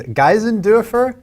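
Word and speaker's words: Geisendörfer: Yeah, and then one other thing, I was told by folks smarter than me that the pronunciation of Felix's last name is Geisendorfer.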